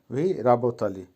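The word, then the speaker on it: вы работали: এখানে বহুবচন, তার জন্য আবারও বলছি লাস্টে 3টে অক্ষর আলি হয়ে গেছে, উচ্চারণ হবে ভি রাবতালি।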